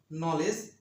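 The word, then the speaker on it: knowledge: নলেজ, জ্ঞান। নি, হাঁটু। নাও, হাতল। আবার বলছি, ইংরেজি শব্দের শুরুতে কে-এন থাকলে কে-এন এর উচ্চারণ দন্তন্য হবে। নক, কড়া নাড়া।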